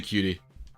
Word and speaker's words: QT: Technically it's pronounced cute. Is that true? I believe you. I literally always say cutie. I always say QT or cutie.